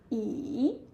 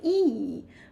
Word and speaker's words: 椅: So when you start the third tone, yeah, you start somewhere which is low and go even lower, and then you go higher, something like this. That is the way of third tone. So you say 椅 like this, okay? Not 一.